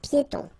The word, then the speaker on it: piétons: Final S here, not pronounced, and then final E, not pronounced. Un passage pour piétons.